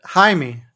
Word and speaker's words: Jaime: it's just it's uh Jaime Jaime because it's Jamie just with a h no I pronounced with h yeah but other than